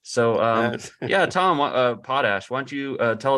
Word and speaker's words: Potash: night group where uh Alan was pronouncing me Tom potash which is not the pronunciation it's potash no yeah and and